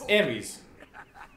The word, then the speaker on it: Ares: It's Ares. Take me to the battleground. Sounds like Aerie. No. Well, it's how it's pronounced.